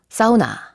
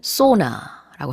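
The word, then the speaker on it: sauna: 비슷한 거, 사우나, 영어로는 소나라고 합니다. 자, 발음 차이가 일단은 있고요.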